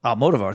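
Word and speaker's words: Almodóvar: Almodovar. Thank you for the pronunciation.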